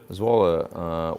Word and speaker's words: Zwolle: Zwolle, well pronounced, says Jord.